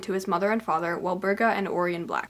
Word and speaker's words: Walburga: his mother and father, Walburga and Orion Black. It's really hard for me to say Walburga with a B because I am so used to her name being spelled with a P, but I will try my best.